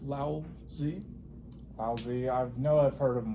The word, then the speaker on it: Lao Tzu: His name is pronounced Lao Tzu.